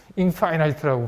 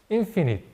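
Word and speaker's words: infinite: 발음에 대해서 너무 신경 안 써서 인도 사람들은 인파이나이트라고 발음하는 사람이 되게 많아요 거의 인도 사람들한테 한 한 100명 중에 저거 바람 시키면 거의 99명의 인파이나이트라고 사전 찾아보시면 inf가 아니고 뭐예요 인피니트 파이나이트는 파이나이트인이 없을 때는 유한한 무한한 인도 사람들은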